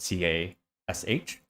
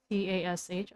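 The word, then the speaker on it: Cache: picture uh fyi um up to this point taylor thought cash was spelled with c-a-s-h c-a-s-h but she realized oh it's actually cash the like the memory cash yeah yeah like the computer thing you're all gonna die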